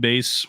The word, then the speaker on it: Bayse: We're looking for David Bays.